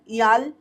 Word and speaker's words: IAL: दिन ईआई डबरे नाम लिखकर, ईआई डबरे IAL ईआल और DABRE डबरे, तो क्योंकि बच्चे बाद में लोग कहते हैं कि ये स्पेलिंग नहीं पता तो कैसे बोले, प्रोनाउंसिएशन कैसे करें, तो मैंने आपको स्पेलिंग बता दी है।